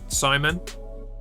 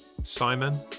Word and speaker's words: Simon: Simon. Like that. Simon.